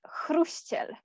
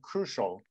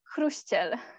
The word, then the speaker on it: Chruściel: First, the name you ask about is pronounced Chruściel. Oh, okay, that's close. I might have, I always say in my head crucial, but it's what, crucial? Chruściel.